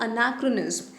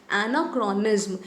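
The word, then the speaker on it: anachronism: Spelling याद करने के लिए आप बोल सकते हो एनाक्रोनिज्म, लेकिन जो इसका करेक्ट प्रोनाउंसिएशन है दैट इज़ अनाक्रोनिज्म, ठीक है।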